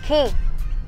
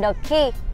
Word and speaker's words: Quay: Có một cái Tâm thấy lạ đó chính là nhà hàng đánh vần là quay, nhưng mà đọc là khi. Nhà hàng The Key.